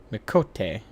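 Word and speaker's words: Miqo'te: are wondering who this bloody mess of a Mikote is. Well, that's how it's said. And I belong to I thought it was the Mikate. Alamegan Resistance. Mikote.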